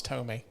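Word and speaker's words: Thome: But Jim Thom, which is what my mom used to call him, Jim Thom. She's like, I seen Jim Thom hit a home run. I was like, Mom, it's Tomei.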